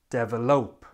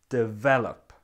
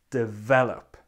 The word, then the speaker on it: develop: syllables like this now when we pronounce it we have the stress on the second syllable and it sounds like this develop develop can you hear it